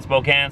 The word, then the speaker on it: Spokane: I saying that right Spokan Spokane I think it's Spokan right even though it's spelled Spokane they like to say Spokan should have spelled it right